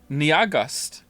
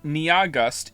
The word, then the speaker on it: NYAHGUST: Niagust. It's pronounced like August.